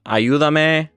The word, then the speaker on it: ayúdame: Or ayuda, ayúdame. You want to make sure that you accent the U right there.